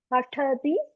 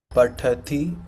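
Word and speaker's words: पठति: Yeah, a little bit, but ta should have air in that, okay? Pathati, pathatah, pathanti. Pathati, pathatah, pathanti. Correct. That's it.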